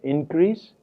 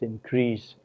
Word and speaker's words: increase: both the words here, it is the first syllable which is stressed if the word is noun as an increase, and the second syllable is stressed if the word is a verb such as increase or protest.